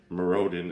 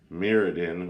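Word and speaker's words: Mirrodin: from marodin only and i pronounce it merodin instead of meridin which is how i hear most people pronouncing it however uh interesting card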